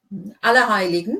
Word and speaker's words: Allerheiligen: Allerheiligen, yeah. Yeah, good. So pronunciation's okay.